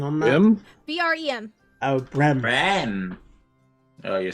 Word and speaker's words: Brem: B-R-E-M.